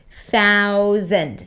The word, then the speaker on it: thousand: And yes, it's a Z sound, even though it's spelled with an S. Thousand.